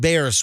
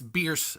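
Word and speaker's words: Bearss: So if I'm going north on 275 and I get out at Bears, where you say Beers, right? It's Beers. The Beers. family called and complained. Right. The family claims it's Beers. How do you say it? Say it again? Beers. It's fierce with a B.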